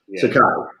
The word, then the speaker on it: Sakai: How do you pronounce his name again? Sakai.